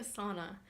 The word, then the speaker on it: sauna: do not take a sauna take a sauna okay that is how it is pronounced the Finns pronounce every letter in the word J's like wise wise